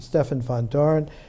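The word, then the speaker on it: Stefan Vandoren: They took a cue, Gerard de Hooft and Stefan van Doren, the Dutch pronunciation, Stefan van Doren, with a foreword by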